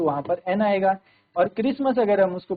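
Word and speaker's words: Xmas: Christmas का बट इट is usually pronounced eight Christmas. इसको क्या है? क्रिसमस प्रोनाउंस किया जाता है। एक्समस सो it takes a it pronounce एक्समस the article B एन।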